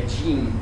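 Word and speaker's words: gene: G G gen né em inglês é je eles falam que é exatamente igual jeans né je e jeans a a a pronúncia é a mesma então eles brincaram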